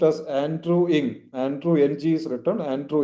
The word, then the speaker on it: Andrew Ng: It is pronounced as Andrew Ing.